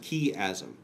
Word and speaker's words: chiasm: It's pronounced chiasm.